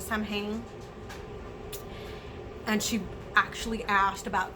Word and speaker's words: Samhain: we call Samhain, because that's the way that it's spelled, and we're Hispanic, so that's how she says it, Samhain.